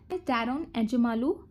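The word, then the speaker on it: Daron Acemoğlu: तो first one इज डैरोन एजमालू, इसका pronunciation ऐसे ही है, डैरोन एजमालू।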